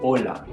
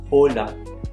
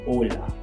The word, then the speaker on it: hola: equivalent to this is Ola Ola note that the H here is silent so instead of saying hola you say Ola so again that means